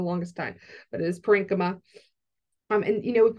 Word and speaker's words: parenchyma: parenchyma which by the way I used to pronounce this word parenchyma for the longest time but it is parenchyma um and you know if we think about